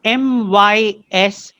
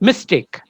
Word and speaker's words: mystique: It is MYSTIQUE. If it had been MYSTIC, it would have been pronounced mystic. That's why I said not mystic, but mystique.